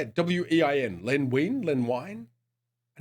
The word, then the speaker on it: Wein: There's also apparently Len Wein is, how do you say it? W-E-I-N, Len Wein?